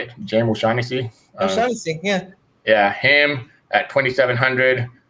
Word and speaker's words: O'Shaughnessy: O'Shaughnessy, yeah.